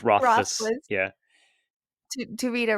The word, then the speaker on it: Rothfuss: I believe it's Rothfuss.